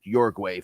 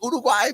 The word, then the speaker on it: Uruguay: kid from Uruguay who that yugu for people that pronounce it I got yelled at so many times it's Uruguay big he came over he